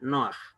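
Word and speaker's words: נֹחַ: de la jet, pero como al ser una pataj furtiva se lee como si estuviera antes de la jet, ¿ya? Por eso se pronuncia Noaj.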